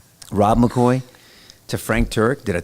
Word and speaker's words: McCoy: Sorry, I don't know why Roy McCoy. It rhymes at least. Rob McCoy rolls off the tongue. Yeah, that's right. Rob McCoy to Frank Turk.